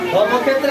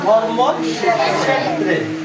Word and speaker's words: ধর্মক্ষেত্রে: কি মূর্ধন্য সেরজন্য উচ্চারণটা এই দুইটা বর্ণ পূর্ণরূপে উচ্চারিত হবে ধর্ম ক্ষেত্রে ধর্ম ক্ষেত্রে